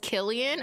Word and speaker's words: Killian: It's pronounced Killian. Okay, it is a K. It's, what's a hard C? What, wait, what? What's a hard C? Like, what? I actually don't understand. What is a hottie? What's a hard C? Killian. Kill Killian. Kill him. Kill him. It's pronounced like kill him.